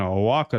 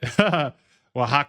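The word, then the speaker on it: Oaxaca: You live in Aaka?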